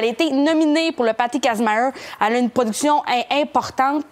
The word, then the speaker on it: Kazmaier: Patty Kazmaier, ça se prononce comme ça s'écrit, difficilement.